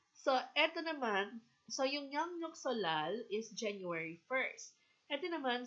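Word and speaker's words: 설날: Western culture okay so ET Naman so yuk solal is January 1st ET Nam solal New Year's Day y um solal okay solal per pronunciation is salal okay so New Year's Day three days usually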